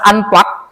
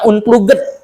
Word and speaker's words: unplug: Kalau unplug ini kayak gini ini unplug bacanya unplug bukan unpluged ya. Bukan unpluged ya bacanya ya, tapi unplug unplug.